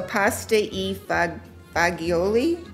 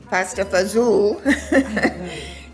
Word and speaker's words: pasta e fagioli: You know, I should really ask Dave how to pronounce all these words, because pizza is my, is what I can say. So pasta e fagioli, pasta fazool.